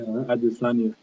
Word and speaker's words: Adesanya: Yeah, Adesanya.